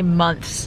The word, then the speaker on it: months: She always judges me for how I say months. Months. Because you gotta pronounce the TH.